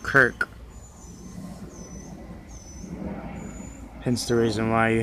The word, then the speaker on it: kirk: trace that back to a scottish word pronounced kirk hence the reason why